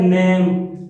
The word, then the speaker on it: NAME: Silent कर रहे हैं, इसका पढ़ते क्या है, नेम, नेम में कभी नहीं पढ़ते।